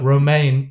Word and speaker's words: Romain: Romain Tartèse. Hello. Hello. And it's actually pronounced Roma, but we're good friends.